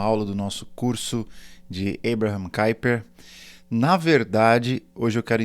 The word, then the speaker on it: Abraham Kuyper: para eles, dentre elas qual era a melhor pronúncia do nome de Kuyper, né? Que a gente costuma falar em português, Abraham Kuyper, ou em inglês, Abraham Kuyper.